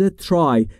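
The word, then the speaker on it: try: میتونیم سعی بکنیم و در مورد تلفظ ترای دقت بکنید دوستان نگفتم ترای بین تی و r صدایی وجود نداره پس پس پس میگیم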